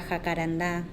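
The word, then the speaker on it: jacarandá: If I could step on it, I could step under a jacaranda. The one with the accent mark on the last syllable, the one whose identity a children's song misconstrues and gives it light blue flowers.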